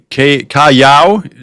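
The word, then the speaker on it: Callao: Again, that pronounced Cayao is the Cayao is the uh the town the port we'll be into.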